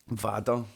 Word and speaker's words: vader: It's spelt the same, Vader, but it's pronounced Vader. Wait, it just sounds like someone from like Yorkshire saying father.